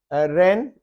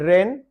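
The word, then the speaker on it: wren: रेन, डब्ल्यू आर ई एन, रेन, W silent है।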